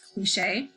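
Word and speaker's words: cliché: I should have like a little accent over the E, right? Because it's pronounced cliche.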